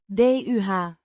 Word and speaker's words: de: Pronounced duh with a short u sound.